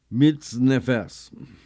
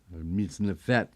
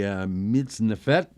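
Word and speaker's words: מצנפת: Sephardim, we don't do the S, we pronounce it as a T, as it should be. So the mitznefet, this is a dome-like hat, which they called a coif in Old French.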